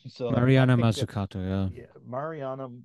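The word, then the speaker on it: Mazzucato: could never pronounce her last name so Marana masato yeah yeah Mariana muscato did I pronounce it right yeah yeah she teaches at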